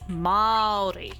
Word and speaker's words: Māori: It's got a macron on the A, so it's Māori.